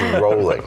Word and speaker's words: Rowling: And it's rolling, right? And it's rolling, Not right? Rowling. I've been pronouncing that wrong all these years.